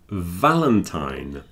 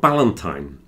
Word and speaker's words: Valentine: It's not Ballantine. Everyone pronounces the V as a B here. Yeah. It's very difficult to go Valentine's Day. Yeah. So it's like the F, but it's voiced.